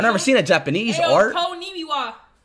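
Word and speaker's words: こんにちは: Konnichiwa. Did I say it right? It's Konnichiwa. Konnichiwa.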